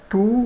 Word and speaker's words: tout: Tout le monde vous être beau. Tout le monde vous être beau. Todo mundo quer ser bonito, né? Everybody wants to be beautiful. Veja, o T não é pronunciado.